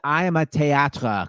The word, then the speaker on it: I Am a Théâtre: And for radio listeners, it's I am a théâtre because it's spelled French style, just in case people are wondering.